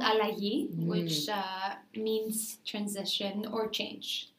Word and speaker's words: Allagi: butcher the spelling or the pronunciation can you pronounce it for me yeah it's called allahi which means transition or change okay and did